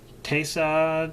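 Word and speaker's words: Taissa: Uh Tessa Tessa Figa.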